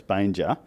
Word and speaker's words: Banger: how to pronounce it it's not Banger it's Banger and you had a